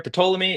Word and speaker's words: Ptolemy: Yeah, Ptolemy.